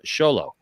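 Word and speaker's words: Xolo: so asteka here says it's of uh uh mexican uh aka aztec name uh pronounced uh sholo so again this just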